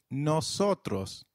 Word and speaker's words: nosotros: The plural form we translates to nosotros for males and nosotras for females.